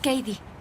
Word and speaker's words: Cady: ¿Cómo se escribe tu nombre, Cady? Es Cady, C-A-D-Y.